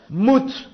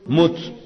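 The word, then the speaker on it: מות: Por lo tanto, tenemos que saber que la palabra muerte en el hebreo es la palabra mut. Repitan conmigo, mut.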